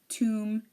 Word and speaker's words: tomb: silent we have the limb num suum thumb tomb and womb we don't say Lim or num